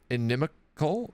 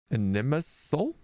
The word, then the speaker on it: inimical: Inimical, no hard C. Inimisal, tending to obstruct or harm. Inimisal? Yeah, I see. Oh no, inimical. That's correct, right.